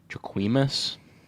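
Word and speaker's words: Jacquemus: these so I don't even know how to pronounce this guy's name jaquimus that's pretty good that's a pretty good try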